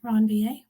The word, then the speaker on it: Ranvier: are called the node they're named after a guy who is french so it's pronounced ron va so the node of ranvier those are unmyelinated areas